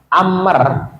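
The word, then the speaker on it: عمرو: ya ini nanti kalau kalian bedakan antara Amr sama Umar itu beda Tulisannya sama bedanya adalah kalau di akhirnya ada waunya atau ada alifnya itu artinya adalah Amr tapi kalau akhirnya ada tidak ada apa-apanya itu bacanya adalah Umar ini berarti jalasa Umar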